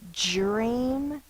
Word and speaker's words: dream: and your teachers and your parents will say dream like the J sound J that's not how we need to say it so that we can